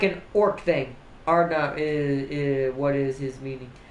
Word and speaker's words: Hardknot: But you take the K out and you take the H out because orcs can't pronounce H's and K's very well unless they're yelling wah. It pronounces Ardnot, which is where it came from. All Herald Ardnot, destroyer of faces.